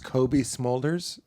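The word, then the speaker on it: Cobie Smulders: the name is smolders Kobe smolders okay spell that for me it's like a smoldering Kobe beef slider that's how you can remember it right got it okay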